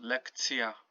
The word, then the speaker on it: lekcja: Notice here the ts, y, so lekcja. Just to remind you that this is pronounced t and this is y.